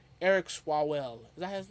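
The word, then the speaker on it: Swalwell: Eric Swallwell.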